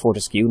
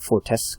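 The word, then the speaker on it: Fortesque: is Sir Daniel forcu pronounced foru not fores or whatever welcome to the hall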